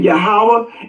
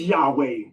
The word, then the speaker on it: Yahweh: And so the consensus, the consensus of modern scholars on the name of God is Yahweh.